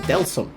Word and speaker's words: Deltarune: It's not called Deltarune, it's called Deltarune. Not Deltarune, Deltarune. I just found that out. I didn't even know that's how gone I was, but apparently it's Deltarune, so that's why I